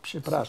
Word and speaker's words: przepraszam: Whatever you start, say przepraszam.